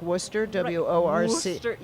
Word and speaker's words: Worcester: there's also well and it's how it's spelled versus how it's pronounced like Worcester Worc it should be